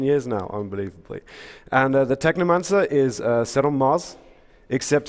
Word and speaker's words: Technomancer: man's at seven months it rhymes with my favorite book necromancer Zardo mansoor Technomancer it's cool compound words